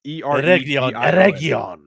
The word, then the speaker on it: Eregion: It's Eregion.